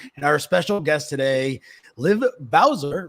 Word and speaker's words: Liv Bowser: and Tomer Saran, and our special guest today, Liv Bowser, right? Liv Bowser? That's how you pronounce that?